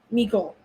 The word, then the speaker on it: Mecole: And Mecole Hardman. Mecole. Mecole. Saying his name wrong this whole time.